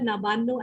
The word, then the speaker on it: Nabanna: of the nawanda craftsmella I'm going to pronounce it the way we do here so friends and the word nabano actually means in Bengali